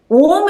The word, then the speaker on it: ओम: Om is a combination of three words. A, U, Ma. A should be 50%, U 30%, rest 20% Ma.